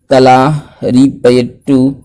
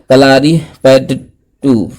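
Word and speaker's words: Kalaripayattu: ठीक है, कौन कौन सा, गटका, कलारीपयट्टू, सॉरी इसका उच्चारण गलत बोले, कलारीपयट्टू, ठीक है, और मलखम और थांगता, ये चारों खेलों का नाम हम लोगों को याद रखना होगा।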